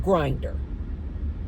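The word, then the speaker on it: Grindr: I think it's spelled Gr NR, something like that, but it's pronounced Grinder. Man, go on the app called Grinder.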